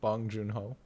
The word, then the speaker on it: Bong Joon-ho: I was just looking at other films by how do you pronounce his name? Bong Joon-ho?